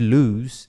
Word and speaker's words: lose: Atente-se a pronúncia de lose, né? Que é perder. Que você não fala lose ou alguma coisa assim. Você fala um lose. E um Z no final.